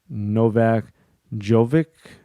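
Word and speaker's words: Novak Djokovic: think that means the the d is silent like django novak jovik maybe because the dsm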